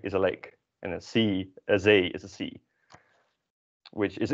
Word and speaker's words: zee: The next one is pronounced as Zee, which means sea, which is kind of always